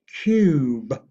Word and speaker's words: cube: And in addition, you do not pronounce the E. You only pronounce the U, but never pronounce the E. Like in this example, cube.